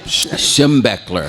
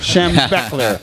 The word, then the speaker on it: Schembechler: How do you pronounce that? Schembechler. Schembechler. Bo Schembechler.